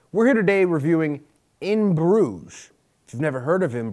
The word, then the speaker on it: Bruges: Schreiber we're here today to talk about in Bruges is that how you pronounce it in broome not in bougas in Bruges and bro Bruges Belgium in grudges